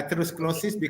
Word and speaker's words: atherosclerosis: so this is called Asos how do you pronounce itos sclerosis yeah atherosclerosis accumulation of fat within the blood vessel so